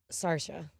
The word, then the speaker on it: Saoirse: I'm pretty sure it's pronounced Sarsha.